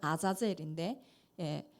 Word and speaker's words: 아사셀: 아사셀을 위하여 드려야 했는데이 아사셀은 어 원래 발음은 아자엘인데에 보내는 염소라는 뜻입니다.